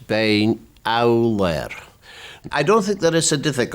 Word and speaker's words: Beinn Eallair: The proper Gaelic pronunciation is Beinn Eallair.